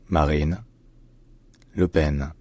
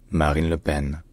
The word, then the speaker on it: Marine Le Pen: political party in France in French her name is pronounced Marine Leen Marine Leen Marine Leen Marine Leen